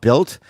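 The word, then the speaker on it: Bilt: It's 2026, and if you're still paying rent without Built, it's time for a change. Built is spelled B-I-L-T, by the way.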